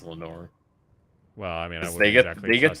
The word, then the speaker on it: Lenoir: so yeah I'm pretty sure it's a definitely Lenor since everybody says it's Lenor well I mean I would college football for pronouncing in NFL there's an NFL player called